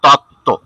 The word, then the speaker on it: তত্ত্ব: এটা হবে, তটা উচ্চারণ হবে অ, অ। আর যখন থয় যা ফলা হবে তখন উচ্চারণ হবে ও, মানে এটা তত্ত্ব, আর ওটা হবে তথ্য।